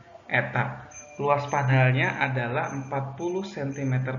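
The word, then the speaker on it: η: Sebuah sel surya memiliki efisiensi, ini eta dibacanya, eta.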